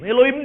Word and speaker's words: Elohim: Elohim juga keliru bacanya. Yang benar Elohim. Elohai. Orang Yunani membaca Eloi. Karena Alkitab ini ditulis, diterjemahkan dalam bahasa Yunani. Maka ikut stylenya orang Yunani, slangnya orang Yunani, Elohai dibaca Eloi.